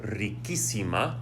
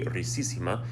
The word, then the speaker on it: riquísima: And you do that because if you don't change the C to a QU, it maintains the S sound and it'd be ricísima. And I don't want to say that because rico has a K sound.